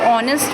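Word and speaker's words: honest: जैसे ही एंड ऑनेस्ट अब ऑनेस्ट में जो प्रनंसीएशन होता है ईश्वर नहीं होता बल्कि और पानी ऐड साइलेंट है तो वूल एंड प्रेस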